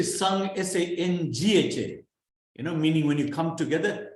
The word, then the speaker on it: Sangha: Now the pronunciation of the N is a guttural N. Why? Because it is joined to a guttural. It is joined to a K or a K, G or G.